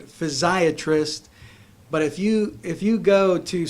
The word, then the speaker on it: physiatrist: And then after that, I went into physical medicine and rehabilitation to become a physiatrist.